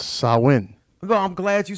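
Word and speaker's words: Samhain: some people call it Sam Hayne that's how Americans pronounce it but yeah but it's a Celtic word so it's sarwin though I'm glad you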